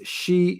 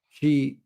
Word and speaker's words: Xi: It is Xi Jinping, like girl, not Xi.